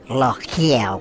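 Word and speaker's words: L'Oréal: Or in French, the real name of it is L'Oreal, love. Yes, pronounced like you're coughing or like you're choking. L'Oreal. Well, I actually can't pronounce it properly because I'm Australian. It's L'Oreal. Sounds like I'm coughing up phlegm, love.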